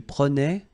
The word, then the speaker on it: prenait: Je prenais, tu prenais, il prenait, final T not pronounced, so the same form, okay?